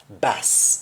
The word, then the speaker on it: boss: your boss at work the accent for boss is bass in jamaican whereas the accent the pronunciation